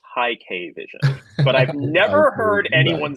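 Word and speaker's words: Hikvision: I think it's supposed to be pronounced high K vision, but I've never heard anyone say it, so I don't know.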